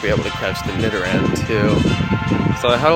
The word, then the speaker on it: Nidoran: Pokemon Go career that I am saying Nidoran incorrectly. I was saying Nidoran, and a lot of people are like, Jonno, say it right or pay the price. Alright, so I no longer want to pay the price, so I'm going to say it right. It is Nidoran.